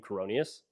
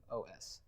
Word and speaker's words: Coroneos: It's not Neos, it's Noes. You stumbled when you said it. It's Coroneos. Don't tell me how not to spell my own last name.